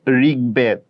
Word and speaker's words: ঋগ্বেদ: Usually আমি কিন্তু তোমাদেরকে বলেছি বফলা থাকলে উচ্চারণ হয় না, কিন্তু এটা ব্যতিক্রম, বফলার একটা ব্যতিক্রম রুলস মনে করতে পারো। গ দ ব এই 3টা বর্ণের সাথে যদি বফলা থাকে তাহলে সেই ক্ষেত্রে উচ্চারণ হবে। যেমন ধরো ঋগ্বেদ, উদ্বেগ, 90।